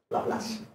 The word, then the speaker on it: Laplace: How do you pronounce it? It's a French name, so anybody knows you're French? Laplace.